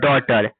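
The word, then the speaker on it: daughter: तो ए यू क्या पढ़ेंगे? ओ पढ़ेंगे। क्या पढ़ेंगे? ओ पढ़ेंगे। देखो यहां पे ए यू है डी ए यू जी एच टी ई आर क्या हो गया डॉटर और ए यू को क्या पढ़ रहे है ओ तो ड में ओ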